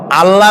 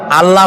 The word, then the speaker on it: আল্লাহ: কি গুণাবলীতে বিশ্বাস আল্লাহর নাম আল্লাহ বলেন তো আল্লাহ নয় কিন্তু আল্লাহ হচ্ছে অশুদ্ধ শুদ্ধ হচ্ছে আল্লাহ বলার সময় মুখটা